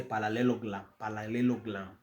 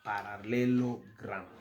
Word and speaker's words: parallelogram: Now when we go to parallelogram, and most Kikuyus don't pronounce this word well, they say parallelogram, okay, but it is a parallelogram.